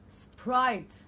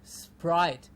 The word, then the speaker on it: Sprite: And remember the vowel sound I to give us a correct pronunciation. Sprite and not Sprite.